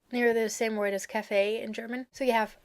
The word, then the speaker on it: Café: Café, with the pronunciation on the last E, because it's French, and café, with the pronunciation on the A.